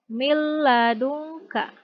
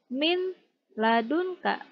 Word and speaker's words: min ladunka: Contoh lain, mil ladunka. Tidak dibaca min ladunka, tetapi dileburkan mil ladunka.